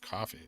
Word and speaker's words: Ko-fi: Ko-Fi is pronounced like coffee.